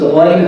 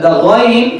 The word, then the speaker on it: Ghain: So the ghain is like the Parisian ra, exactly.